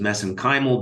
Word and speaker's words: mesenchymal: And of course, you study MSC stem cells, which I pronounce as mesenchymal because that's how they pronounce it in Ireland.